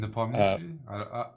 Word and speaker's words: Nepomniachtchi: Nepomniachtchi.